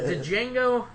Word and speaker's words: Django: wants to do a Django Unchained minies is di is silent okay well Jing Quin